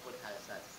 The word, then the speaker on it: Haute-Alsace: Nah, jadi bahasa Prancis itu tulisannya panjang, bacanya pendek. Oh gitu. Tulisannya Haute-Alsace, bacanya Haute-Alsace. Dan selama di situ bisa menguasai bahasa Prancis?